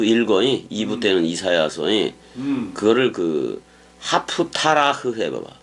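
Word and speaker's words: haftarah: 파라샤흐라고 읽어. 율법서를 읽는 거. 그 다음에 이제 예언서를 또 읽어. 2부 때는 이사야서. 그거를 하프타라흐 해봐봐. 하프타라흐.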